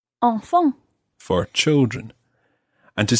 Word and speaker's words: enfants: And the plural of this, the word for children, sounds exactly the same, although it's got a silent S on the end. So you would say enfant. Enfant.